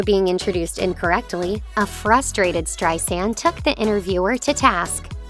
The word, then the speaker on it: Streisand: It's Streisand with a soft S, like sand on the beach.